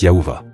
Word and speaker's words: Thiaoouba: On lui explique qu'il va être emmené sur leur monde appelé Yahuva, orthographié Tiaouba par Michel, mais il indique que cela se prononce en fait Yahuva.